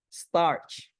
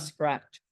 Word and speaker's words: starch: But some very seriously think, starch, not scratch.